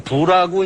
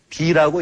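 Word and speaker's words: 否: 비라고 이건 부라고 이제 가부라고 할 때 부인데 괴 이름으로 할 때는 비라고 읽습니다.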